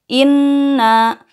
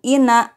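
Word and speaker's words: إنّا: itu jadi tahan ya inna bukan ina tapi inna lama bukan lama tapi lama jadi dengannya harus kalian tahan sekitar 2/3 harkat sekarang coba kalian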